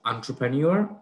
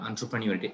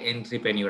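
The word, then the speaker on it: entrepreneur: Number 7 এর দিকে choose the correct spelling, এখানে কারেক্ট চাইছে, তো সেটা হচ্ছে এন্টারপ্রেনিউর। উচ্চারণটা কিন্তু ইম্পর্টেন্ট, এন্টারপ্রেনিউর, অনেক বলে এন্ট্রিপ্রেনিউর, না মোটেও না, ইট শুড বি এন্টারপ্রেনিউর।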